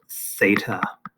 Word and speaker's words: theta: a greek letter and that greek letter is pronounced theta okay why do we use a greek letter